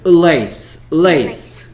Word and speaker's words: lace: 자, 이것도 레이스고 그 다음에 이 친구도 뭐 레이스니까 비슷하게 보일 수도 있는데 전혀 달라. 얘는 lace. 그렇지. 그 다음에 얘는 race. 소리가 달라요.